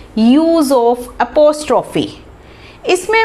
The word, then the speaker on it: apostrophe: तो मैं स्कूल में यूजुअली देखती हूँ कि बच्चे इसको प्रोनाउंस ही सही नहीं करते हैं. कोई इसको पोस्ट ऑफिस बोलता है, पोस्ट ऑफिस एस. बच्चों को पता ही नहीं कि इसको बोलते क्या है.